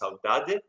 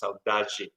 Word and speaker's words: saudade: famous word in portuguese it's pronounced somewhere in brazil it's pronounced saudade somewhere else is pronounced saudaji so that's a heavy